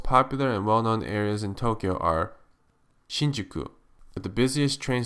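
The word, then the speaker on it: 東京: the city uses is not one but two long vowel sounds in Japanese Tokyo is actually pronounced Tokyo did you also know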